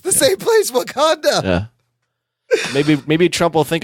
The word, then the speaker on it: Wauconda: It's the same place, Wakanda.